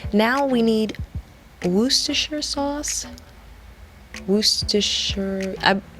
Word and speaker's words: Worcestershire: we need Worcestershire sauce Worcestershire you don't pronounce the R in the word but I'm pretty certain